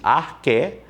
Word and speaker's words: arché: Você escreve arché, A-R-C-H-E, acento no E, pronuncia-se arché, daí vem arqueologia, arquétipo.